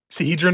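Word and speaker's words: Sihedron: Sahedron Occulted Runeforge waits within.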